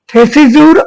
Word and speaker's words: Thesiger: থেসিজুর আবেগপ্রবণ বিশ্বাস, উচ্চারণটা থেসিজু হবে।